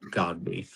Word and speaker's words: Godbey: thing, our last name, we get called everything but Godbey. It's for whatever reason that name is just incredibly hard to, I guess, pronounce or read or whatever.